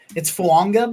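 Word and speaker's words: Fuaga: Yeah, it's Fuanga, by the way. There's an N that's not actually there, but when you talk about Talise, it's there.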